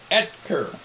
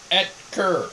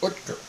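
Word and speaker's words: Oetker: O-E-T-K-E-R. It's the O silent. It's pronounced Etker. It's a German name. Etker. That's how you say it. Really? In Germany, there's no E and there's an umlaut over the O. It's Utker.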